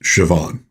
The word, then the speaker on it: Siobhan: A N is pronounced Siobhan. Why not why not spell it S H A V O N? Why do you need a BH for a V sound?